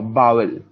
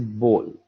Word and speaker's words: bowl: so that's the thing it's not bowl it's not uh like a bowel uh ambika bowel is what is uh at the end of your intestine so it's definitely not that the correct way of pronouncing this is bowl b-o-w-l now the easiest way